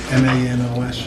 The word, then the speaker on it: Manos: I'd like to have a moment of silence for, how do you pronounce her name? M-A-N-O-S?